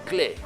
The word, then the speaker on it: Klee: De este Acuérdense que se dice Paul Klee. Paul Klee. No se dice Paul Klee.